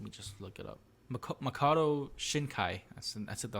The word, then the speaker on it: Makoto Shinkai: talk about is weathering with you it's by Makoto Shack I think that's the name of the director let me just look it up Makoto Shinkai ass and that's it the last name wrong